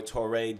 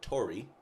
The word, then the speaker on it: Tori: té doing his thing sorry I just messed up your name bro I'm just you know T is just like how I've always pronounce the name but Tori I love that that's even better give it up for